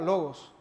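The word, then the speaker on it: λόγος: La palabra verbo traducida así en nuestra Biblia es una palabra que en su idioma original que fue escrito, la palabra se pronunciaría logos, para hablar de afirmación, palabra, verdad.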